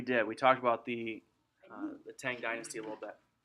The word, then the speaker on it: Tang: We talked about the Tang Dynasty a little bit. You can pronounce it Chang as well.